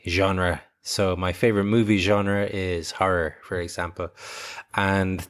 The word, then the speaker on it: genre: It's one of these words that comes from French and is kind of pronounced in a French way, genre.